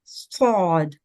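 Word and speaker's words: ض: A thick sounded letter, Sod.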